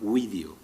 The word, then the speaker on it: video: Este verbo, video, los romanos pronunciaban la U del principio como una vocal, pronunciaban video. Eso lo sabemos por algunas indicaciones gramaticales que hemos conservado, incluso algunas anécdotas curiosas.